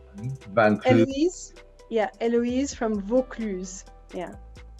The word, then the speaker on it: Vaucluse: And if you can pronounce Eloise. Yeah, Eloise from Vaucluse. Yeah. Vaucluse, Eloise.